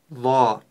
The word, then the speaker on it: ظ: ла одна точка сверху Давайте теперь правильно произнес букву ла ла ла ла буква ла твёрдая буква и при её произношение не нужно вытягивать губы нет мы произносим ла губы не должны быть задействованы в произнесении этой буквы что мы ещё должны